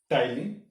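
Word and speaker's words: ptyalin: Okay, salivary gland secrete करते हैं टाइलिन, P silent है इसमें।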